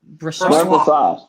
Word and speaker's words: Brossoit: I can pronounce that one easy. That makes sense. Laurent Brossoit. Brossoit. Brossoit. Brossoit.